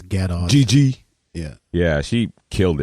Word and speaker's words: Gadot: Gal Gadet. Gadot, what's her how do you pronounce her name? I think I think it's Gadot.